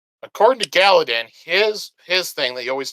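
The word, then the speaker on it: Galladon: Galadin?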